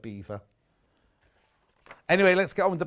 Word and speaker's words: Belvoir: i'm on the bus i'd like to be like mrs bouquet and she would call it veil of belvoir not pert vale of beaver anyway let's get on